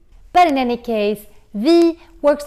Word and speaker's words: vi: The pronunciation of the e is very nasal. It's almost like you're doing like this, vi. Especially in Stockholm, vi.